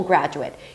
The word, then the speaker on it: graduate: Both the noun and the verb are spelled the same but pronounced differently. Let's start with a noun. A graduate. For example, a high school graduate.